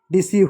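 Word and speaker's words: deceive: ई silent होगा। बहुत सारे शब्दों में ई लास्ट में आता है ना, तो ई को नहीं पढ़ते हैं, डिसीव हो गया।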